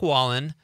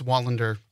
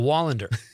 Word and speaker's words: Wallander: It's Wallen, Scott Rumott, and Hendel. Mm-hmm. All right. Guys, welcome. Hello. Hi. Hi. Actually missed a syllable on my name. I did? It's Wallander. Oh, Wallander.